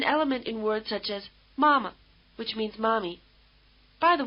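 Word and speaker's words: 妈: English the high tone May strike you as sung rather than spoken try repeating Mother after the speaker taking care to stay on the same high note throughout ma ma ma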